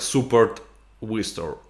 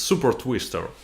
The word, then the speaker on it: Super Twister: It's not like Super Wister. It's Super Twister.